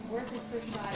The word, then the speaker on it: Worcestershire: Hey Nat, how do you pronounce it? Worcestershire.